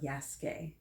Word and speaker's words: Yasuke: do with the pronunciation it looks like it should be yasukei or yasuk but this is pronounced yasuke have you ever heard